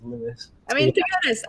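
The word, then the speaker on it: Lewes: how to pronounce lewis did you pronounce it lose yeah yeah a lot of people do i thought double check and it was lewis i mean to be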